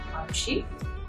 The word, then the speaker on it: Manushi: Ma matlab mama, Mu from Moor, Manu, She matlab her, She, Manushi Chhillar.